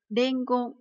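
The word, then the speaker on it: 伝言: Từ này được đọc là gì? Dengon. Khi mà nó ghép với một từ khác thì chúng ta sẽ đọc âm ôn của nó là chữ đen nhé.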